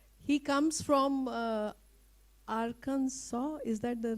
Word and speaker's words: Arkansas: He comes from uh Aransaw. Is that the right pronunciation?